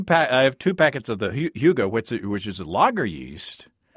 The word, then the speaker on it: Hygge: I have 2 packets of, and Matt, tell me how to pronounce Hygge. Hygge. I have 2 packets of the Hygge, which is a lager yeast.